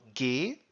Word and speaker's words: ge: form the past participle by adding the syllable gay and they end on